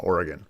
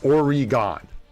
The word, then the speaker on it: Oregon: weird accent because like if you look at how it's spelt and how it should be pronounced, it is Oregon, right? Oregon. That is how you would say it.